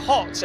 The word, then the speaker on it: Hott: Right, there is a driver at the top of the timing screens at the moment, and that is Damir Hott, and we welcome Damir Hott.